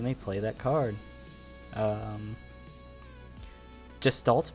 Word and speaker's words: Gestalt: Um, Gestalt mode, I'm assuming that's that's that's how that's pronounced, right? Close enough. Gestalt. Yeah, Gestalt. Gestalt mode.